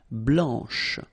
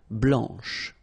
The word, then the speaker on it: blanche: Okay, so here masculine, blanc, don't pronounce the final C, and then blanche. Okay, remember when you combine this CH, you get the sound sh, blanche.